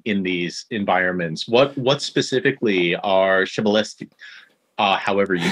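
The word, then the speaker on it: Przybylski: I think it's pronounced Pryzbylski.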